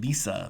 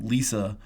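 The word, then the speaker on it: Lise: be wondering I'm saying Lisa because that's how you pronounce that in German the e at the end is pronounced with an O so Lisa Meitner so outline her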